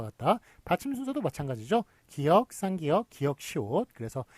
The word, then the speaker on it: 쌍기역: 예, 쌍기역이 있는데 요거 끼역이라고 읽습니까? 아니죠. 끼역이라고. 이것도 안 돼요. 안 되고 저번에 무한도전 하하의 얘기를 들어봤지만 예, 이렇게 했다가 이제 무식하다는 얘기를 듣습니다. 예, 어떻게 됩니까? 앞에 쌍자를 붙여가지고 쌍기역 예, 그런 식으로 쓰는